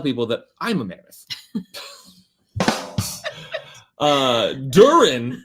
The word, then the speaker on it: Durin: Durin, which does not in any way rhyme with urine.